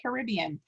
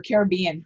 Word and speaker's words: Caribbean: games pirates of the caribbean or caribbean depending on how you say it captain america the winter